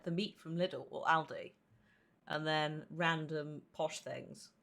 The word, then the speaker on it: Aldi: Aldi as in Allen.